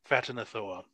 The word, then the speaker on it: Ghatanothoa: With many eyes, you would know this to be an ancient being known as Phatanothoa. Ghatanothoa. With a G-H pronounced as an F, because I like it that way. Phatanothoa.